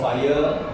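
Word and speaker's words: FHIR: will know things called fire is f h i r is pronounced as fire h 7 and images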